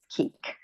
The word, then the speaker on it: Kueck: Kueck. Did I pronounce it correctly?